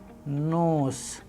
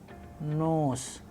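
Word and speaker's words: нос: Sample Russian word we have here nose, nose, which means nose.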